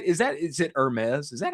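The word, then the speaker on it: Hermès: Is that Is it Hermes?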